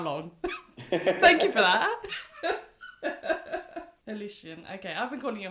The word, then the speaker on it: Holition: have mentioned to me that I have been pronouncing wrong for the last I don't know how long. Thank you for that. Alician. Okay. I've been calling you Hollin, but it's all good.